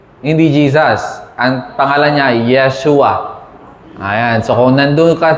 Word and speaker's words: Yeshua: Ang pangalan niya Yeshua. Ayan. So kung nandoon ka sa Israel, i-pronounce yung pangalan ni Jesus, Yeshua.